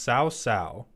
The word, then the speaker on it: Sao Sao: It's pronounced Sao Sao, like sour minus the R.